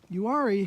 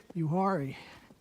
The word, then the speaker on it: Uwharrie: of the yuari trail yuari is spelled u w h a r i you worry and uh they say